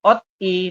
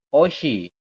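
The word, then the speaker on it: 옷이: yang ini juga sama tulisannya ot I tapi anda membacanya adalah Osi di Bacanya adalah Osi seperti itu yang terakhir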